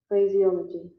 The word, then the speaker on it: phraseology: फ्रेजियोलॉजी, फ्रेजियोलॉजी। ये British pronunciation था।